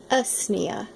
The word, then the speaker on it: Usnea: I wanted to talk to you for a few minutes about Usnea. Some people pronounce it Usnea, but it is a type of lichen that is commonly found everywhere.